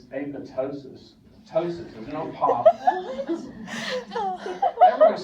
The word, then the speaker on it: apoptosis: faculty person will say apoptosis no it's tosis it's apotosis it's not apoptosis it's apotosis toes never heard we don't pronounce the P it's toses just like